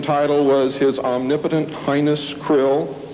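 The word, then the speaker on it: Krll: His name and title was His Omnipotent Highness Krill, pronounced Krill, spelled K-R-L-L-L or C-R-L-L-L.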